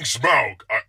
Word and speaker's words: Smaug: I'm saying Smaug. I couldn't be any clearer. Like the word? Like a smug look? Smaug. S-M-A. That's not important. Smug is spelled with a U, by the way.